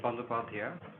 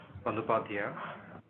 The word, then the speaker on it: Bandopadhyay: Research, and I'm delighted today to host Bandopadhyay. Solid effort. Solid effort. Yeah, it was good. No, it was good. Yeah. What's the correct pronunciation? Bandopadhyay. Bandopadhyay.